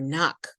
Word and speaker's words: knock: 4th, we learned how to be aware of silent letters, like the K in ni or knock, or the W in the word answer.